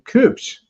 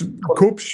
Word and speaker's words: Kubsch: In the upper right of your screen is a gentleman named Sebastian Cooch. Am I pronouncing that correctly? Yes. Cooch. It's Koops.